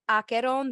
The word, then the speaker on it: Acheron: How do you pronounce Acheron? Yes. Rachel? Yes, it is called Acheron, the River of Tragedy. Acheron, the River of Tragedy.